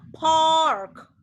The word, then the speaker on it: pork: Ini bacanya adalah pork. Lihat. Kalian Pork. dengar ya. Nih. Pork. Kenapa? Karena Pork. P ini vowel, maka dia adalah ada aspirated sound. Biasanya ini ada H-nya di sini.